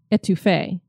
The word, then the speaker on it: étouffée: The proper way to say it is étouffée.